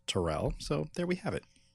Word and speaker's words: Terrell: And, my name is pronounced Terrell, so there we have it.